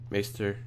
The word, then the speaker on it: Maester: Maester. I said that right. Yeah, I said it right.